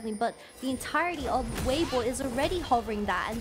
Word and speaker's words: Weibo: Yeah, I think BO is just a pretty different pronunciation when it comes to English and Chinese, because I know a lot of people say Weibo, but in Chinese, Weibo, there's like a W, it's like B-W-O, Weibo, there's like a